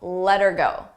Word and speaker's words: let her go: For pronunciation, let's talk about let her go. Let her go. Here, notice how her sounds like You don't hear the H, but I also attach it to the word before.